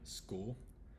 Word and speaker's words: school: the hard C again school school so this one might be a little bit of a confusing word because you want to combine the S and c and not the C and H so it's school school